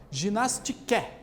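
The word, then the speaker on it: γυμναστική: Olha só, a palavra ginástica vem de uma palavra grega, que a gente pronuncia como ginastike, que significa, olha só, a arte de fortificar o corpo e dar-lhe agilidade.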